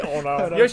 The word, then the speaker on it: Ono: Just say oh no.